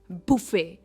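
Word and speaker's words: buffet: इसे कहते हैं बुफे। यह एक एक्चुअली फ्रेंच वर्ड है। बुफे।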